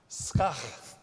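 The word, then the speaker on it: s'chach: It's pronounced skach, which I'm just going to encourage you to try to say that. It's like S-K-A-C-H, or like?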